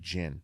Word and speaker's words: Ginn: who it's gonna actually I think it's pronounced Greg Ginn but anyway I'll take